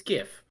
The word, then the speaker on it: GIF: acronyms by the words that they contain you pronounce them by the word yeah yeah and the word is gif because it's gift without the tea how about